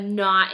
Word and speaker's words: knot: you or whatever but if you put a K in front it's the type of like not like you have a knot in your rope or a knot in your hair something like that so it's two different meanings if it has a K in the front it's that type word side like a big knot something stuck like in your rope okay so that's another silent K word not um another one